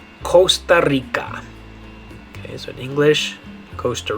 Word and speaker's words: Costa Rica: Okay, in English we'd say Costa Rica. In Spanish, it is a slightly different pronunciation. In Spanish, if you say it with the vowels the right way, you'd say Costa Rica. Costa Rica.